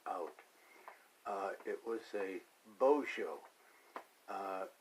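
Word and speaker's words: Bozo: Uh it was a Bojo. Uh, it's B O Z O. Uh, but it's pronounced as if it was B O Z H O Bojo.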